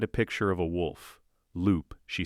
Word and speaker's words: loup: "Loup," she says. The pronunciation is terrible, but recognizable. "Close. Lou, the P is silent. Lou, better."